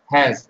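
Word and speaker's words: HAZ: সংক্ষেপে কি বলা হয় এইচ এ জি বা জেড যেটা উচ্চারণ করি আমরা হ্যাজ এটা হচ্ছে আমাদের হিট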